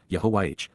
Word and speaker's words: Yahowah: Yahowah, Yahowah, God's personal and proper name, pronounced, Yahowah, based upon Haya, to exist.